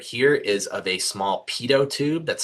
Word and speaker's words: pitot: This image right here is of a small pitot tube that's spelled P-I-T-O-T.